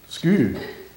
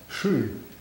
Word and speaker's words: sku: Sku, sometimes pronounced shu in Norwegian, but sku, okay.